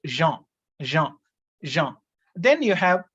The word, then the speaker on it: Jean: pronunciation is different we have the first name j-e-a-n it is pronounced jean jean jean then you have baudrillard baudrillard 2l